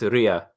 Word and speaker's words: Leah: with ruby and st snow specifically do you pronounce it leia or leah it's ria oh yeah yeah so that was really cool